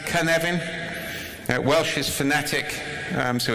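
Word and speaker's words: Cynefin: it can happen is a Welsh word it's pronounced Kevin Welsh is fanatic so it's easy to pronounce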